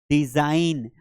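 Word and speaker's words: design: फॉरेन, अब इसकी spelling बड़ी कितनी कठिन है, फॉरेन, क्योंकि जी साइलेंट आ रहा है एन के पहले। जैसे रिजाइन, डिजाइन, तो यहां पर सभी के लास्ट में जी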